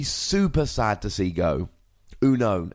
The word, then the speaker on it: Unown: Unown. And it is Uno, not Unknown. It's a pronunciation which is very strange.